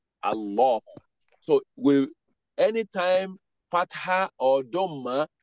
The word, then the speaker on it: Allah: Anytime you have Ismu Jalala, Allah, if any word is not coming after it, you know you are pronouncing that Hamza. You are pronouncing Hamza to Waslu as if it takes fatha. That is why you have ah at the beginning. So he said Allahu, Allahu.